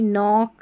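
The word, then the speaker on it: knock: अब ये भी है कि के एन में के एन जो है ना, इसमें के साइलेंट है, ठीक है। नो, नाइफ, नी, नॉक, निट, तो इनमें जो शुरू में क्या आ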